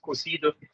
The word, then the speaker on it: cozido: a fish dish or cozido it even has like the French accent in Benin but practice pronounced cosido which is a stew